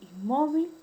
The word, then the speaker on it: inmóvil: Cuando es una palabra grave o paroxítona, cuando la mayor fuerza de voz recae en la penúltima sílaba. Tenemos el caso de inmóvil y cárcel.